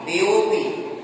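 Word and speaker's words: देवोऽपि: अवग्रह चिन्ह का उच्चारण होगा अ के समान। देवो अपि, देवोपि, यहाँ पर ए और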